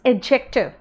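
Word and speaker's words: adjective: अगर आप देख के पढ़ोगे तो आप इसको कहोगे एडजेक्टिव, है ना, देख के पढ़ोगे तो कहोगे एडजेक्टिव।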